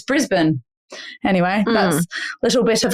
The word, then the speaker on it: Brisbane: like oh oh Melbourne and then it's not Brisbane either it's Brisbane anyway that's little bit of a knew that one you knew that one I knew that I knew Brisbane Brisbane there we go they just won they